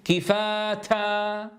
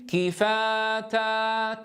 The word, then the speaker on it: كفاتا: لكن أيضا يا إخواني الهمس هنا لا نبالغ فيه فنقول كفاتا هكذا مبالغة شديدة وأيضا لا نقول كفاتا تا تا انظروها أصبح صوتها قريبا من الدال إذا ننطقها فنقول لا نتكلف الهمس ولا نتكلف حبسه لا نتكلف الهمس ولا نتكلف حبسه فنقول كفاتا تا لاحظوا يا إخوة.